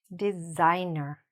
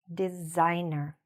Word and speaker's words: designer: So, this word is pronounced "designer", "designer". Say it after me, "designer". So, what's happening when we're saying this? We see an "s", but the "s" sounds a little bit more like a "z" or "zed", "designer".